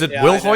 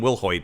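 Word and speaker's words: Wilhoite: will I don't know you pronounced her name is Will ho I I think it's will ho Kathleen willhoit is how I've always pronounced it let's go with that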